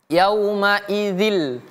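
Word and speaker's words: يَوْمَئِذٍ: Jadi bacanya yaumaidzil. Yaumaidzil lil mukadzibin. Yaumaidzil. Lihat ada tasydidnya.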